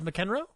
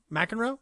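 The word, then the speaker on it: McEnroe: Um, I went to the film club for the first time and saw Borg versus Mckenro. Mackenroe, sorry, didn't say it right.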